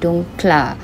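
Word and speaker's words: dunkler: Jadi dunkle plus ditambahkan R, jadi kita bacanya dunkla.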